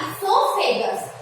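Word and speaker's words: oesophagus: है उसको क्या बोलेंगे, फूड पाइप या इसोफेगस। ये ओ साइलेंट रहता है।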